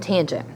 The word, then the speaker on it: tangent: Tangent is T-A-N. Again, you would pronounce this tangent, even though you just see tan, and A is your angle.